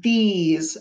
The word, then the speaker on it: these: e s e these don't forget the silent e makes the other e say its name these i'm gonna stretch it out these these the e z the s says z in these number 12.